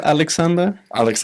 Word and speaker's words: Aleksandar: I'm guessing the first name it's pronounced Aleksandar.